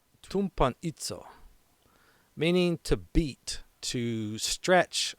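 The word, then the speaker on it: τυμπανίζω: It's pronounced tumpanitzo, meaning to beat, to stretch on an instrument of punishment, to execute through prolonged suffering.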